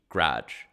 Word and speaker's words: garage: of people say garage so not even garage or garage it's literally take the a out and just g-r-a-g-e garage that's what i say